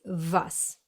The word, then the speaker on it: was: So in English it's what, while in German it's was.